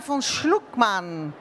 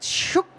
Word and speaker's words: Schuckmann: marer ocean international and her name is Karina vonlukman. Did I say it right? Shookman, man.